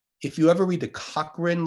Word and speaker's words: Cochrane: you ever read the cochrane library c-o-c-h-r-a-n-e pronounced co-train cochrane library uh probably